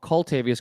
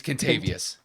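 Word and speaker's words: Kentavious: Contavious Caldwell-Pope, or Coltavious Caldwell-Pope. I always get his name horrible, so I'm just going to go with KCP. It's Contavious. Contavious.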